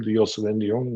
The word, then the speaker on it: Diosend: I I appreciate the way you pronounce my last name, Diosend, which is correct.